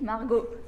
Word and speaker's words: Margaux: J'interviewe aujourd'hui pour Thé Unique Margot, comme elle aime bien le prononcer.